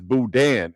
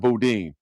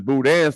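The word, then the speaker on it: boudin: By the way, it's Boudan. It's not Bodin. You You're right, KP. It's Boudan sausage, not Bodin.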